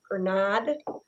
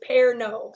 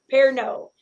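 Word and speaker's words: Pernod: eighth a teaspoon of per nod or no per no i think is how you pronounce it actually it's french so i'm assuming it's it's pear no actually i put it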